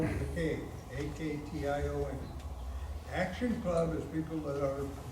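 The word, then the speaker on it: Aktion: schools and we have one called action club spelled with a cave a-k-t-i-o-n action club is people that are mentally challenged we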